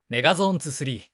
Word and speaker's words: メガゾーン23: ゾーン 23 本当何々 megazone 2 3 と読むメガ Zone 2 3